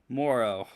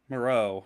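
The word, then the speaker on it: Moreau: a Jimmy Graham sighting Morrow Moro rather is how you say it good out by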